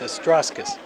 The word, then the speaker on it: Astrauskas: The C in Astrauskas is actually pronounced as a S, so it's Astrauskas.